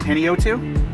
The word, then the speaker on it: Panayotou: first of all I want to make sure I'm pronouncing your name right Penny O2 yeah too okay because I've heard so many different ways of season we get Penny U2 pennyatu Penny yetu it seems like it should be panio too yeah what's the craziest